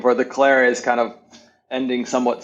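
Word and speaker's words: Colere: I would always say it wrong. Like, did you say it is Calare? Is that correct? Yeah, Calare.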